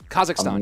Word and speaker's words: Kazakhstan: know he's living in I'm not sure how you say it kazakistan Kazakhstan yeah there you go yeah he's living there